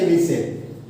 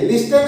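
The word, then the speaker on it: listen: Okay, तो यहाँ पे आप क्या यूज करेंगे, लिसन। जैसा मैं कहता हूँ वैसा सुनो, लिसन एज आई से। क्या बोलेंगे, लिसन एज आई से। लिस्टन नहीं बोलेंगे, लिसन, क्योंकि यहाँ पे टी साइलेंट है।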